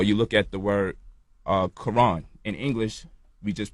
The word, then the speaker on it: Quran: Or you look at the word Quran. In English, we just pronounce the K and the Q the same exact way. But the Q is supposed to be pronounced like from the back of the throat, like when we making